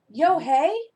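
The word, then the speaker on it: Unhei: no no lune corrected it's spelled u-n-h-e-i it's pronounced um oh it's yo hey the boy said like you hey what about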